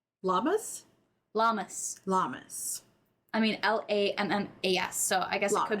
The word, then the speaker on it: Lammas: I mean, Lammas.